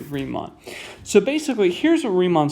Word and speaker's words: Riemann: how to pronounce this guy's name it is pronounced re mon if you pronounce it ryman or reman or whatever i will kick you out of the math party forever respect the man pronounce his name correctly riemann so basically here's what riemann sums allow you